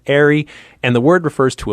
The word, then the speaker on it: Eyrie: trail sign it looks like it should be pronounced eerie yeah i see that it's spelled e-y-r-i-e but pronounced arie and the word refers to a large nest